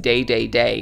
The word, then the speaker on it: Dedede: in love with him king dedede's name is pronounced day day day in japanese and the smash crowd